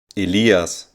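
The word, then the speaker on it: Elias: is good in German Aliyah sounds like this aleeah's and his name was just allowed for baby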